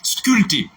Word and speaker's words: sculpter: Mais pour la phonétique, la prononciation, le P ne se prononce pas.